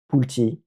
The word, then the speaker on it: Pulte: Aujourd'hui, on va parler de la société Pult Group. Donc, les anglais prononcent ça différemment. C'est Pulti.